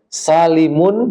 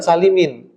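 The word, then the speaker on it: سالمٌ: mudzakarin itu mudof ilaihnya salimun jangan Salimin karena salimun itu sifat dari jam'u bukan sifat dari Muzakar ini banyak salah Soalnya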